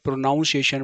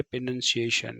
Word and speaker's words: pronunciation: तो पहली बात तो यह है कि इसको लोग क्या बोलते हैं? प्रोनाउंसिएशन बोलते हैं। क्या बोलते हैं? प्रोनाउंसिएशन। पहले तो इसको सही कर लो। करेक्ट वर्ड क्या है इसका? बोलने का? करेक्ट वर्ड है प्रोनंसिएशन। क्या है?